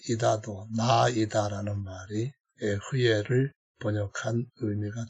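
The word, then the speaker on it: אהיה: 에흐예, 아세르, 에흐예 이렇게 에흐예라고 하는 스펠링이 똑같은 단어가 여기에 2번 나오고요.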